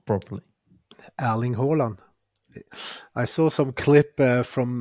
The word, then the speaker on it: Erling Haaland: I don't know what Haaland was doing that day, but he was like Erling Haaland. That was like, no, that's not correct.